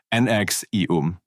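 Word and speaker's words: NXIVM: and the outside world NX eum NX e um yes that's really how they are pronounced started as a multi-level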